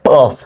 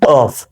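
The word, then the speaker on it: ق: ফা ঠিক আছে এটা কফ উচ্চারণটা অবশ্যই এবং অবশ্যই প্র্যাকটিস করবেন বারবার কফ ক উচ্চারণটা এখান থেকে আসবে কফ ঠিক আছে কফ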